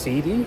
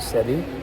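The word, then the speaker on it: cedi: So, uh, Ghanaian County is pronounced Sidi, not Sedi, but it's like it used to be pronounced Sier or something.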